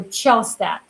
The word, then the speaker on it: Chostad: Chostad, and some of you might have a hard time pronouncing it. So think about kind of like the cello, the instrument cello that you play. So Chostad.